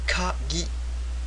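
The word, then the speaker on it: かぎ: So ka, we've seen this in the previous slide, and this one is over here. Ki, kagi. Kagi means key. So you see, you get different pronunciation, different hiragana just by adding this little quote over here.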